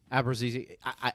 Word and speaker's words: Abruzzese: The other 6, well, Abruzzese, how do you pronounce his last name? Abruzzese.